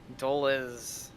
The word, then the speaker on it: Dulles: know how to pronounce dulles dolez okay the is part of it you're gonna say like this is boring is okay duelist dole is okay you're gonna say that nice and quick and then say your